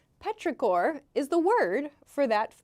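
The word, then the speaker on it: petrichor: Petraore is the pronunciation. Yes, this has a ch here, but it's Petraore, not chore.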